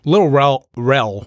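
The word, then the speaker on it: Lil Rel: Little Rel, right?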